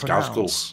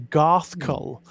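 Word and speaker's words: Ghazghkull: I always do it as Gazgul, with a hard Z. Gazgul. Gazgul, yeah. I used to as a kid, but apparently it is supposed to be Garthkull.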